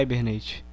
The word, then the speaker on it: Hibernate: Podem estar achando estranho falando Hibernate, mas a pronúncia correta é Hibernate.